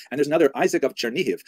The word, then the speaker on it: Chernihiv: And there's another, Isaac of Chernihiv, sometimes recorded as Isaac of or Yitzchak of Chernigov, that would be the Russian pronunciation of the same place, also a 12th century